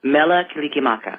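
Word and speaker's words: Mele Kalikimaka: Mela Kilikimaka.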